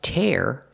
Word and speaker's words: tear: these two phrasal verbs the first one is pronounced tear tear up like you tear up paper and the second one is tear tear up when you cry just a little maybe